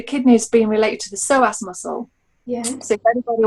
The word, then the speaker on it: psoas: about um the kidneys being related to the psoas muscle yeah so if anybody wants to look this up it's spelled p-s-o-a-s um and the psoas muscle holding a lot